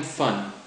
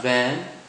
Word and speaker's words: van: You are having fun. Fun. Fun, not van. Fun.